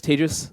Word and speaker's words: Tejas: best work possible uh my name is tagis that's pronounced like advantagous um whe whether or